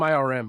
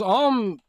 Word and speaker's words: ARM: arm oh I'm sorry I always call them irm because I spell it with capital letters but they're kind of screwed on because arm is barely profitable and